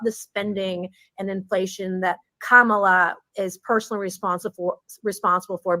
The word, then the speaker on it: Kamala: didn't say it wrong I now know it's Kamala some people want to say kamila what however you want